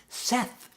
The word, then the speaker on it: Seth: like you're a teacher you should know phonic Seth it rhymes with Beth would you say be